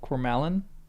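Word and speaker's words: Cormallen: The next chapter is called The Field of Coralin. That's the right pronunciation.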